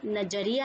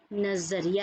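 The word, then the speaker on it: नज़रिया: पर ध्यान देना नजरिया तो यह जो नहीं होता ज होता है जो कि नीचे नुक़्ता है इसे मैं आप देख रहे हैं देख रहे होंगे और सुन रहे होंगे उच्चारण में भी अंतर आ गया यह नजरिया नहीं है यह नजरिया है आपका किसी भी चीज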